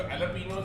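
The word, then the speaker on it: jalapeños: तो ये आपके लिए जी, अगर आपको नहीं पता तो इसको कहते हैं जर्किन्स, जबकि स्पेलिंग GH होते हैं, और जो एलपिनोस है उसके स्पेलिंग J से होते हैं, बट इट इज कॉल्ड एलपिनोस।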